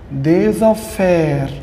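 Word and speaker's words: des affaires: إن سيبر كوبين إن سي بير كوبين إن كوبين إن كوبين دي زافير. طبعا الاس بتنطق زد هنا خد بالك مع الكلمة اللي بعدها دي زافير دي زافير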